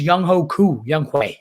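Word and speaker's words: Younghoe Koo: out of hand there last but not least young hoku is that's how you pronounce it he gutted it out for week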